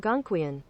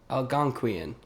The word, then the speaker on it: Algonquian: it's pronounced. Hold on, I have to hear it again. Hold on. Algonquian. Algonquian.